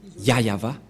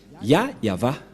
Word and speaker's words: Yahvah: Et donc c'est bien la vraie prononciation de son nom, Yayava. Voilà le Ya et voilà la suite après. Yayava, voilà.